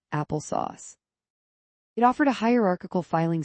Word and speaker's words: Apple SOS: It was called Apple SOS, short for sophisticated operating system, and pronounced Apple Sauce.